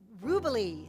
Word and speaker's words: Rubilee: Rubilee is how he says his last name, which I love. It rhymes with Jubilee.